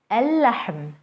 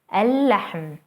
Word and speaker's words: اللحم: اللحم, اللحم, the meat.